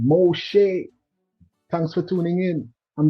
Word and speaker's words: Moshe: Moses and the Hebrew pronunciation. Moshe, thanks for tuning in and being a part of this live presentation.